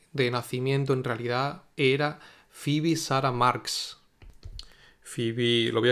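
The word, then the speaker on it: Phoebe: Fibi se escribe de esta forma que se pronuncia FIBI, pero se escribe así como en la serie de de Friend esa creo que había una FIBI.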